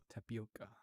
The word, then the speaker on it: tapioca: The O is open. Tapioca.